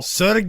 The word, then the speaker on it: Serge: Ser whoa be careful Serge is how you say that name Serge it is a Russian name oh and speaking of